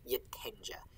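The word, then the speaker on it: getenge: like a yeah but after an n if you would have something that would otherwise be like a y sounding g it ends up being like a j which is also what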